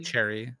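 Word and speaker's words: Choerry: is that her name pretty much just pronounced like Cherry it's pretty much Cherry Cherry all right cool purple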